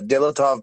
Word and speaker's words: Dyatlov: Yeah, Dyatlov Pass.